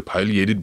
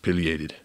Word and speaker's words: pileated: And finally, we have the pileated woodpecker. Or is it pronounced pileated? Either one is fine. Both are good. Pileated. It's like tomato potato.